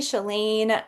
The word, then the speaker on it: Shelaine: I'm your host, Janine Marino, and today I have Chellain, and I am so excited. Did I pronounce that correctly?